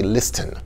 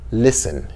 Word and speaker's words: listen: example the word listen in the word listen you don't pronounce the t you don't say listen you say listen to but in the